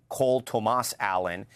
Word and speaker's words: Cole Tomas Allen: He pronounces his name Cole Tomas Allen.